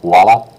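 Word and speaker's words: voilà: sounds like waa but if you hear it slowly it'sa that V sound is pronounced but it disappears when you're saying it quick VOA VOA you hear it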